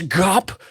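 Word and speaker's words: Ghup: That's Gup with an H, which is silent.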